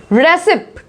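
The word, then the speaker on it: receipt: रेसिप्ट, क्या बोलेंगे इसको? रिसिप्ट, रिसिप्ट बोलेंगे। इसमें पी क्या है? साइलेंट।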